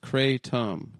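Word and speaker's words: kratom: Talk about theratom but also talk about the speciosa pronounced speciosa andratom pronounced cratum.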